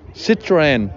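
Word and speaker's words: Citroën: How you pronounce it? Citroen.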